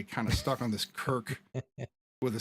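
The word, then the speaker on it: Cirk: it doesn't matter because it's still pronounced Kirk like it doesn't matter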